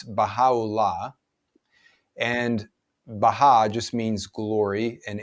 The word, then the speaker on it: Baha'u'llah: And one of his most well-known followers is someone whose name is a little hard to pronounce, but in English it's Baha'u'llah.